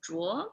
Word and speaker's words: Zhuo: If you're wondering how to pronounce it, in Chinese it's Zhuo, but usually I just go with the anglicized version for simplicity's sake. Here we go.